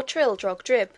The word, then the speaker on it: Trildrogdrib: It contained a warrant for conducting me and my retinue to Trildragdub, or Trildrogdrib, for it is pronounced both ways as near as I can remember, by a party of 10 horse.